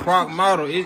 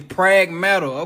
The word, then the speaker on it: Pragmata: So I've been pronouncing that game name wrong in here. I thought it was Pragmata. It's Pragmata.